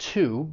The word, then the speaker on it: to: When you're stressing it, it's pronounced, just like I said, to, but there is another accepted form of pronunciation, and that is when it's unstressed, and it's going to sound more like t.